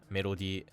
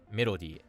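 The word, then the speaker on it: メロディー: So, I say melody and he says melody. So, the intonation's a little bit off here on your melody or oh. Melody, melody. So, I say it flat and he actually accents the me.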